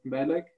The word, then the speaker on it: Malek: I know my name is written as Malek, but it's actually pronounced Malek.